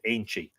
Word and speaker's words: aentaid: The ancient Irish saints were in the habit of making a union, Irish Eintheid, with the lenition it would be pronounced Ainchi, Aentaid, with each other as a mark of close friendship and affection.